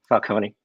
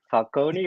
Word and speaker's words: Falcone: Is it Falcone or Falcone, or what's your opinion on that? Well, if you're talking in American, it's Falcone, but in Italian it's Falcone.